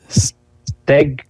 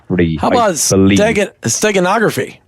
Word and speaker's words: steganography: It's called something that to me is one of the hardest words to pronounce, but it's called steagophery. Steganography.